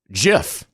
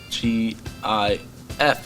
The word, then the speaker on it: GIF: a dick about it it's pronounced with a hard g i have no idea